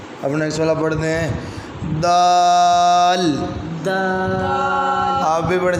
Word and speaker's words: دال: Next والا پڑھتے ہیں دال، آپ بھی پڑھیں، جب دال ادا کرتے ہیں تو اینڈ پہ لام کی آواز آتی ہے، دال دال شاباش۔ آپ